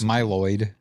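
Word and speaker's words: Mylod: directed by Mark malloyd is that how you say his name m y l o d yes my Lloyd my my right on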